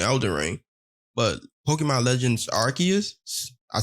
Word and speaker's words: Arceus: But Pokemon Legends Arceus, I said it right so we won't get killed in the comment section.